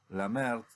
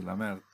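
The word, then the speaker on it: Lemaître: Es algo propuesto por Georges Lamert, se escribe Lemaitre, creo que se pronuncia bien así, Lamert, un jesuita, un sacerdote jesuita, él propuso la teoría del Big Bang, teología, ¿sí?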